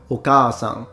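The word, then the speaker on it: お母さん: Look at, for example, words with a short a in Japanese, like ame, which means rain, and compare it to okasan, which clearly has a a sound, so long.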